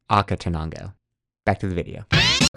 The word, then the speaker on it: Acatenango: We just finished our hike to Asa Tanango. I believe it's pronounced Aka Tanango.